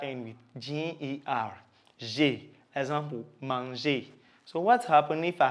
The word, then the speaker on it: manger: G before a, o, u is pronounced g. Okay, so G before the vowel a, o, and u is pronounced what? G. So you have ga, go, and g or gui. Okay, and G before e and I, so e and e is pronounced je. So you have je and j.